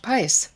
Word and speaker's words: Pais: I'm super excited to welcome Josh Pice to the Terry Cole Show. Clearly been saying your last name wrong, but now I'm saying it correctly.